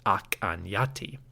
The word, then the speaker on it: Akhenaten: Based on studies of late Egyptian and the modern Coptic language, Scholars suggest that the pharaoh's name, El-Amarna, was probably pronounced Ak-an-Yati.